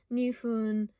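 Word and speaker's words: 二分: However, when paired with different kanji for numbers, it's pronounced ippun, nifun, sanpun for 1 minute, 2 minute, 3 minute. And if you notice, it changes depending on what number it is, and as any person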